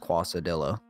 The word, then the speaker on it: quesadilla: So my capital, it may confuse you because you might want to say quesadilla, but it's quesadilla. Pronounced quasadilla. Quasadilla.